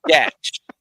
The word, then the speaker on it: Gatch: no, it is Gatch.